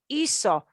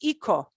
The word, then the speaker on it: hizo: It can't be a C because then it would be pronounced ico. So they had to pick, which phonetic letter can we plug in there that'll get that hacer sound, that S sound for hacer?